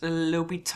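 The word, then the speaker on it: L'Hôpital: but it it's my understanding that this is pronounced lital all right which I sort of just say lital um so lal's Rule and this is a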